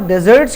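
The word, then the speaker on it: dessert: होता ठीक है और डेजर्ट के ऊपर मैं कहूंगा य डेजर्ट मतलब सहरा अगर कभी यह स्पेलिंग दिख जाए ना double S ई आर टी बिल्कुल मुख्तलिफ मतलब भा इसको पढ़ते डिजर्ट यह डेजर्ट और यह है डिजर्ट डिजर्ट पढ़ते हैं इसको इसका मतलब मीठा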